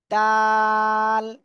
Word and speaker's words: د: এই অক্ষরটা কি অক্ষর জিহ্বার আগা সামনের উপরে দুই দাঁতের গোড়ায় লাগান লাগিয়ে আপনারা এই অক্ষরটা উচ্চারণ করেন তাল তাল সবাই একসাথে উচ্চারণ